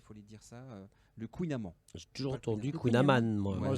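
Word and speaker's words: kouign-amann: le kouign amann le kouign aman normalement ça se prononce de kouign aman le kouign aman mais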